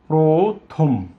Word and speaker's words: প্রথম: প্রথম, থ ওর কারণে ও বৎ উচ্চারিত হচ্ছে প্রথম।